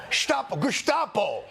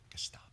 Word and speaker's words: Gestapo: I'm Gestapo. In America, we pronounce it Gestapo.